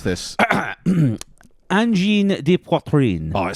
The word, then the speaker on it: Angine de Poitrine: How do you pronounce this? Angine de Poitrine.